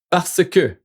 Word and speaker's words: parce que: So let's say, for example, why do we do 2 syllable instead of 3 syllable? Parce que c'est plus rapide.